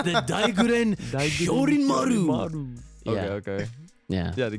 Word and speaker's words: Daiguren Hyorinmaru: But don't be asleep on Hitsugaya's Daijurin Hero. I can't say that shit. I fucking knew you wasn't gonna be able to pronounce that shit. It's the Daiguren Hyorinmaru.